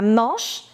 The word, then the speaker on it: Manche: La Manche, CH is ch, la Manche, et la mer du Nord.